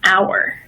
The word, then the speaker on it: hour: And then we also have the silent H, just like in Spanish, honest and hour.